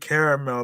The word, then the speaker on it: caramel: Yes, I pronounce it caramel because of two A's. There's two A's in the word caramel.